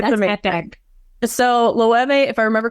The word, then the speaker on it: Loewe: Like the Loewe's and so forth, and people don't know it's pronounced Loewe, Loewe, Yes.